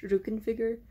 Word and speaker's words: Rückenfigur: It's pronounced Rückenfigur, although I probably pronounced it wrong.